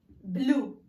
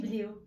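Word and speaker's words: blew: انا غنطقوها بلو ماشي بليو.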